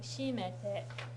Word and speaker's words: 閉めて: It's like 閉めて. It's kind of starts high and comes down in pitch.